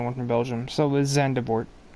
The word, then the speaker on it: Zandvoort: It's not the only one from Belgium, so is Zandvoort. Or sorry, Zandvoort, because I think that's actually how it's said.